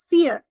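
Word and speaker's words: vier: read as ve but in German v i e r will actually be read as fear and fear is the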